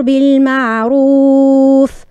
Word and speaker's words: بالمعروف: أقيمي الصلاة وأمر بالمعروف. بالمعروف ما هيش يروف في الدارجة، نقولوا يعمل معروف معروف، لا كيف الدارجة نخليوها على جنب. في القرآن الراء المضمومة دائما وأبدا كيف تكون؟ تكون سمينة مفخمة.